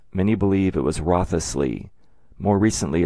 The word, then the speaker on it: Wriothesley: name is abbreviated w-r-i-o-t which is pronounced either wrought or wrote if the remaining letters of his name were included it would look like this and would be pronounced rothlessly or maybe Rosalie all right so beginning